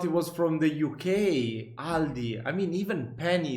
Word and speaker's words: Aldi: and say alies in Germany we just say Aldi it has its origins in 1945 when the